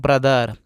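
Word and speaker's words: brother: इसको पढ़ेंगे breed breed B आर ओ टी एच ई आर बी से ब आर से इसी में र लगा होगा टी एच से थ और यह ई साइलेंट रहेगा और र से आर इसको पढ़ते दोस्तों ब्रदर और ब्रदर का मतलब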